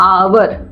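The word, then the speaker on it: hour: लगाया क्यों लगाया है क्योंकि यहां पर क्या हो जाता है साइलेंट हो जाता है और हम इसको पड़ते हैं आवर जब हम इसको पड़ते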